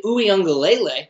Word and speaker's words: Uiagalelei: It really seemed like Clemson was in trouble, but DJ Uiagalelei, I like saying that because I say it correctly, he did fine.